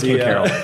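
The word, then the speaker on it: Caryl: Ken Carol uh had one. Um Ken Carl. Ken Carol. I don't care how you pronounce it. Shut up. I do. It's Carol.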